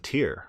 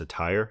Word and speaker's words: Tyre: let's read about the prints of tear or print attire no that's the more scholarly pronunciation of Tyre a set of man say to the Prince of Tyre thus says Lord God